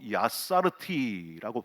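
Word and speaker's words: יצרתי: 히브리어로 야사르티라고 발음을 하거든요.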